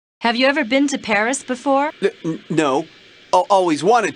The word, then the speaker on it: Paris: of France live in Paris wow so this is Paris I can't believe that I've never visited the capital of France before yeah well the locals pronounce it Pari Carmen's conducted a lot